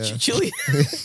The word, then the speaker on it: Cillian: Cillian, Yeah, that's he how I really say do be it. Like a chill like that.